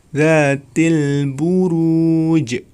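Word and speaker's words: ذات البروج: Kemudian di akhir ayat dzatil buruj. Ya, di situ terdapat huruf qalqalah ya. Maka cara membacanya harus dipantulkan. Dzatil buruj.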